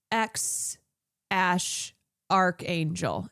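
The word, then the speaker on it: X Æ A-Xii: X Ash archangel is how it's pronounced.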